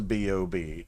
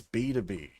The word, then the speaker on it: BTOB: number five we had the guide to boob or sorry BtoB why do I still mispronounce it's B2B whatever okay forgive me Melody